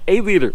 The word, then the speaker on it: Aleader: the way the name of the shoes are a leader we got confirmation from the company so for the correct pronunciation so let's go ahead and head out